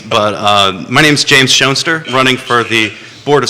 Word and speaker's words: Schoenster: my signs that say nature nurture shoner uh it's not only a great way to help people pronounce my name correctly which Jerry successfully managed